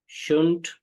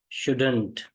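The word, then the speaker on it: shouldn't: जैसे ही शुड गो, तो शुंट ही, इसकी दो प्रोनाउंसिएशन है, शुंट या शुडंट।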